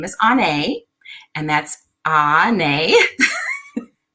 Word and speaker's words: Onae: What I'm doing here tonight, if you are new to me, my name is Onae, and that's Onae.